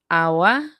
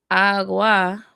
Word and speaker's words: agua: So I've heard water pronounced agua with the absent head sound, or agua with the hard head sound, giving you g.